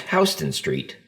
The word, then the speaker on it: Houston Street: One of the more predominant streets in San Antonio is Houston Street, which is actually pronounced Houston Street.